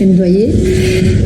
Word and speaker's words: Ndwaniye: Alors, le plus facile, c'est comme si tu disais douanier, de la douane, le type de la douane, mais il y a un petit N devant qu'on coupe en deux.